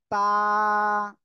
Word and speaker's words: ت: এই উপরে দুই দাঁত আছে সবার, দুই দাঁতের গোড়া, এই ভিতরে গোড়ায় লাগাতে হবে জিহ্বার আগাটা, লাগান।